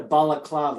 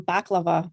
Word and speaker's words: balaclava: We have them, but we pronounce them baklava, like the dessert.